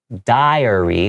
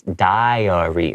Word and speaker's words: diary: That is diary. So you hear the I sound, right? That means it's spelled with the I before the A.